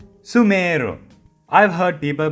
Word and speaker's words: Sumeru: So when you say the word, don't drag the su too much. Drag the meru as Sumeru.